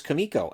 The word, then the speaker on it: Kumiko: kumako and i'm like it's not kumako it's kamiko and then he got